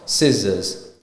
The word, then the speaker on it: scissors: Likewise, for scissors, the C is silent. It's scissor.